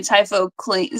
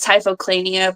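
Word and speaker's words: Typhochlaena: Typhoclina. See, I don't say my words out loud, so in my head it was Typhoclania, but it's Typhoclina. Type.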